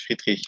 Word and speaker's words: Friedrich: Am I pronouncing it Yeah, correctly, that's okay. Mr. Friedrich, yeah.